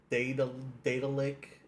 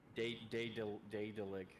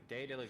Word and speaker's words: Daedalic: The developer of this one was Datalic Entertainment. Oh. Daedalic, I believe is how you say that.